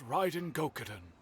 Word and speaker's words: Raiden Gokaden: The once renowned Raiden Gokaden, That's how you pronounce it.